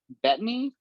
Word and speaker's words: Bettany: Is it Paul Bettany?